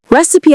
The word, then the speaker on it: recipe: Recipe, on the other hand, has 3 syllables. Recipe. We stress the first one, and the second is a schwa sound.